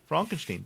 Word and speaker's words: Frankenstein: It's pronounced Fronkensteen.